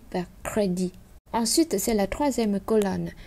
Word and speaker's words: crédit: Granit, débit, crédit, déficit, concept, dite. Alors ici, on a les deux mots débit et crédit qu'on ne prononce pas le T et les autres, on va prononcer le T.